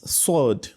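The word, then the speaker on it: صاد: okay you can see sword is it has a it comes out heavily because while pronouncing sword the back of your tongue Rises up whereas in that of sin it doesn't do so okay so that's why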